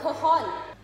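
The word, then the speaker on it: cajón: How do I pronounce it? It's like a it's cajon.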